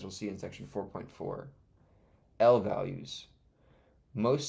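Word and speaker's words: lvalue: An L value, pronounced L value, represents an object stored in computer memory, not a constant or the result of a computation.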